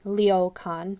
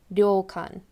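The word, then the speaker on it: 旅館: gums and teeth meet so it's not ryokan or leo khan but ryokan i'm not a native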